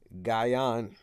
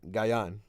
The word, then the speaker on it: Gyang: me hold on let me try it first gaian right guy on nope you know our people when they